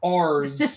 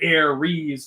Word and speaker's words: Ares: I didn't realize how much the E is pronounced in Greek mythology. Ares, Persephone, Demeter, Aphrodite.